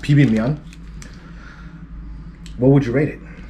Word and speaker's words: bibimmyeon: this uh it's called it's korean it's uh pronounced pb mion what would you rate it um for the